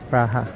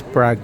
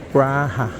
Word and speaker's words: Praha: Bolt na app Okay praha they pronounce it praha This is prag no praha may people na arriving